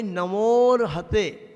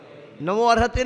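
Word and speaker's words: नमोऽर्हते: अब उसको बोलेंगे नमोर हते। नमो अर्हते नहीं बोलेंगे, अर्हते बोलना गलत हो जाएगा।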